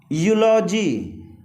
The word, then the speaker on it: eulogy: यहाँ ई का उच्चारण क्या आ रहा है, यू। यूलॉजी, EULOGY, यूलॉजी।